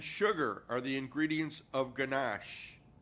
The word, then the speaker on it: ganache: Whipping cream and sugar are the ingredients of ganache. Melody, am I saying it right? Is it ganache? You did say it right.